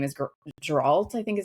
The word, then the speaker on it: Geralt: Um, his name is Geralt, I think is how you pronounce it.